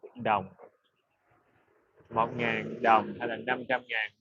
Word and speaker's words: đồng: The real pronunciation is Dong.